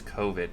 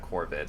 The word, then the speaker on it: COVID: because of Corvid or I keep pronouncing it's COVID, not Corvid. I keep thinking it's like a bird.